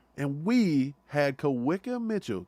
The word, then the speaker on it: Kawika: Kawika Mitchell.